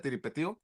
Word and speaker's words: Tiripetío: No, los normalistas de Tiripetío, ¿es así cómo se pronuncia, Tiripetío? Sí, sí.